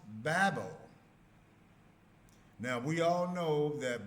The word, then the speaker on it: Babel: The actual name is I don't read Hebrew which is pronounced Babel.